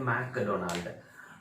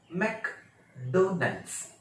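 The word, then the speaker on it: McDonald's: अब इसका कुछ लोग बोलते हैं MC डोनाल्ड्स, कुछ लोग बोलते हैं मैकडोनाल्ड, मैकडोनाल्ड नहीं है, इसको मैकडोनल्ड्स, मैकडोनल्ड्स, मैकडोनल्ड्स, मैकडोनल्ड्स ऐसे बोलते हैं, मैकडोनल्ड्स, ठीक।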